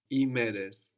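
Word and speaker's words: ημέρες: And this I is spelled like with OI, like with the Omicron, iota. And that OI just gives us the sound I. Imeres.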